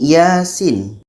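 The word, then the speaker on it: يس: Contoh seterusnya ini Yasin. Jejaannya seperti ini ya dengan sin. Dan di sini pun belum terjadi proses idgham. Ya ini dibaca panjang dua harakat. Sin ini dibaca panjang en harakat.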